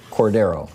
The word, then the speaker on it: Cordero: Cordero, yes.